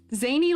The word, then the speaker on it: Xander: in like in life whose name is Xander who goes by zany it's zany like the word oh no I've been